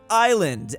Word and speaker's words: island: the H is silent Island s is silent Q There is no